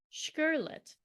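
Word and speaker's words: Škrlet: oh here we go it says here pronounced sherlet well that's really helpful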